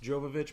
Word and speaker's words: Jovovich: a photo of it it is pronounced Jovovich but I have a feeling the rope Russian pronunciation is something entirely different but we will cause